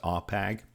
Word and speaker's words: AWPEG: The AWPEG, AWPEG, that's the acronym and it's pronounced AWPEG.